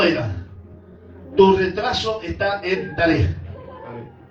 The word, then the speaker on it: tarea: Y es tarea porque lleva acento en la E.